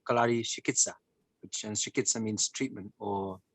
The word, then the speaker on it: Chikitsa: is the healing art where they say Kalari Shikitsa, and Shikitsa means treatment or therapy. Shikitsa. Chikitsa. Shikitsa. Okay. And that means? Treatment or therapy. Very well. Carlos, a pronúncia então é kalaripait, tá?